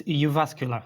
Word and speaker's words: Jyväskylä: sarento freas uh PhD from the University of yasul did I pronounce that correctly it's iasca good day good day yasa all right wonderful